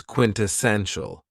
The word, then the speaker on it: quintessential: Another very cool adjective is quintessential, and this word has 4 syllables, and the stress is on the third syllable.